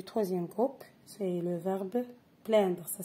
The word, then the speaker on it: plaindre: Plaigner, c'est un verbe du troisième groupe, c'est le verbe plaindre. Ça s'écrit avec P-L-A-I-N-D-R-E.